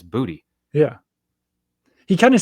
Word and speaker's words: Boutte: Boutte, and it was like it's just booty. Like It's when Boutte. he was drafted, we all looked up pronunciation.